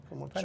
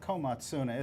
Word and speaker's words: Komatsuna: Probably Komotsuna. not saying it right. Komatsuna.